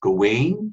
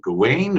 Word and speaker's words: Gawain: and the Green Knight, sometimes pronounced Gawain. You're wondering how do you say it? Do I say it Gawain or do I say it Gawain? Well, the correct answer is both, because the mysterious anonymous